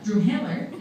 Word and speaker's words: Drumheller: Drumheller is how it's correctly pronounced.